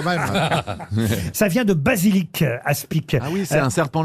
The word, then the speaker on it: aspic: Ah oui, alors on ne prononce pas le C qui est à la fin. Un aspi, ou aspic si vous prononcez le C.